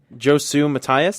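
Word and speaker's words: Josue Matias: And uh Josie uh Mat Mati uh I say his name wrong all the time. Josu Matias.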